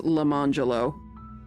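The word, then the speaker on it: Lemonjello: Can't be any worse than being named Lemon Jello and saying it's pronounced Lemangelo.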